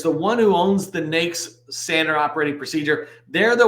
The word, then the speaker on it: NAICS: their guidance it says it is pronounced nakes like snakes not any other way the reason this is